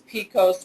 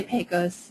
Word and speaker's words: PECOS: chain and ownership system known as Pecos or Pecos depending on where your problem how you pronounce yeah so I'm i say Pecos I'm a peak us yeah and we're both